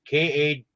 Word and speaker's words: Kashmir: Cashmere. Kashmir. Cashmere. It's Kajmir. Oh, and the J is silent.